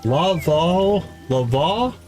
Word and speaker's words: Laveau: Laveau, V-O-H. New Orleans voodoo practitioner Marie Laveau. Yeah, French pronunciation rules where the initial law is soft and the ending though sounds like the English word vow.